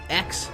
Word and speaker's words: x: Today we're discussing Godzilla XC Kong, the new empire. Is that how you say it? Godzilla times Kong? No, it's X.